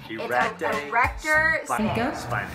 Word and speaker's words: erector spinae: I don't know how to say it either. Erector spinae. That's how you say it.